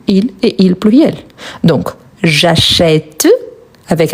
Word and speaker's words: j'achète: Mais quand je le prononce, je dis j'achète. J'achète, c'est un son ouvert. Donc, il faut ajouter un accent grave.